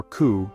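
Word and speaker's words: 九: While the number 4, or shi, is associated with death, the number 9, or ku, is also avoided because it sounds like the word for suffering or pain.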